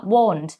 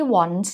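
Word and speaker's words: won't: นั่น เอง นะ คะ ออก เสียง ว่า Won ไม่ ใช่ want นะ คะ เพราะ ถ้า want มัน จะ แปล ว่า ต้องการ เนาะ Won นั่น เอง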